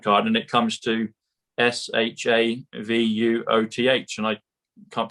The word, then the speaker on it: Shavuot: It comes to sovereign, comes to trump card, and it comes to SHAVUOTH. And I can't pronounce it properly yet, but it comes to the book that Roseanne shared with us at the beginning.